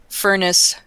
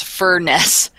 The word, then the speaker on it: Furness: in a bar in Barrow in furnace that's Furness uh Cambria according to